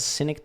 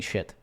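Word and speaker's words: Schenectady: was uh what is what is it called cynic doe man I don't know how to pronounce it synote New York how do you pronounce it cynic cynic holy sticy sticy New York man wow I was pronouncing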